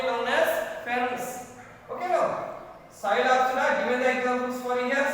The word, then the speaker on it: Psilopsida: And at the same Psilopsida. P is silent.